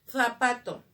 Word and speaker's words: zapato: El ceseo es el sonido que le quitamos a la Z. Zapato, nosotros decimos zapato, ¿no es cierto? Entonces le quitamos y le colocamos el sonido de la S.